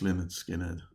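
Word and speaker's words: Lynyrd Skynyrd: another uh the all to the American cousins lonard skinnard pronounced Leonard skinnard and this is a great great album shot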